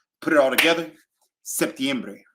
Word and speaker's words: septiembre: weird okay but in the cool thing about Spanish is that you get to pronounce every single vowel most of the times 95 of the times you're not blending vowels you're literally giving it each and every vowel you're giving it its